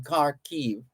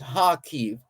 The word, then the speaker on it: Kharkiv: In the northeast, Russian shelling killed a woman and injured a man in Kharkiv, or properly pronounced Kharkiv, regional officials said.